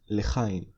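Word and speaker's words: לחיים: The Hebrew matching word for cheers is lechaim.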